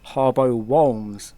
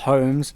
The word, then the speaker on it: Harbo Wholmes: If anyone has listened this long, you'll finally found out that it's pronounced Harbo Wholmes, not Holmes, not Whooms, Wholmes.